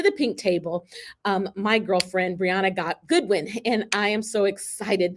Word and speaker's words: Breanna Goodwin: Pronounce your name for me so I say it properly. Breanna Goodwin.